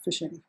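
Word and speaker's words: phishing: of programs are basically the zombie program fishing pronounced as fishing this is a message that tries to trick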